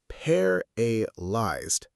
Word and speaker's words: paralyzed: Paralyzed. Paralyzed. The stress is on the first part, paralyzed.